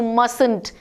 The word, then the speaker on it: mustn't: must not or you mustn't now here t is though we write it but it is silent when we speak it so you mustn't